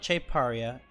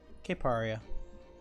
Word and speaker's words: Cape Aria: this deck Cape Aria it's not cheap area it is English Kate Cape areaa no Cape Aria Cape areaa new logos